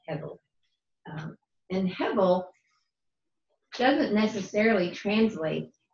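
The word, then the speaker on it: הבל: The word is actually hevel, H-E-V-E-L. And in Hebrew, that's pronounced almost like a B, hevel.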